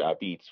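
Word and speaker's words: apizza: um but that's where this word I beets which is spelled API zza so it looks like a pizza right and that's our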